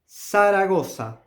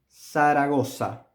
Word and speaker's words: Zaragoza: Third one, Zaragoza. Zaragoza. Also with the S.